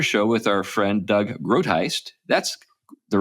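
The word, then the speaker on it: Groothuis: George Grant, another show with our friend Doug Grotheist. That's the right way to pronounce it, isn't it? Grotheist.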